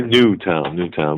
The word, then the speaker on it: Newtown: secondary place out of Newton, Connecticut. It's only a town of 2,000 people. Yeah, we have to keep Newtown. Sorry, Newtown. We have to make sure we pronounce that right.